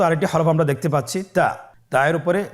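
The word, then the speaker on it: ت: তা হরফটি বারিক হরফ এবং এক আলিফ টেনে পড়তে হবে। আপনারা আমার সাথে বলুন তা। আবার বলুন তা। তায়ের মাখরাজ কোন জায়গা থেকে? জিহ্বার আগা সামনের উপরের 2 দাঁতের গোড়ার সঙ্গে লাগিয়ে উচ্চারিত হয়।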